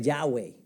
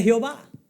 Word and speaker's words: Yahweh: Es el nombre Yahweh. Se escribe con las letras YHWY. Yahweh. De ahí es que viene el nombre Jehová.